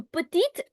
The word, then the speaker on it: petite: Petit changes to petite, and you'll hear the T.